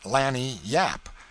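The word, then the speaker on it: lagniappe: limber expressive handy word laniap they pronounce it lanny yap it is spanish so they said we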